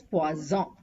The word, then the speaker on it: poison: is pronounced as p s and poison is pronounced as pazon make sure you ask for p which means